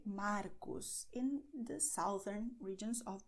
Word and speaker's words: Marcos: But I pronounce Marcos tarde with the tip of my tongue, not with my throat.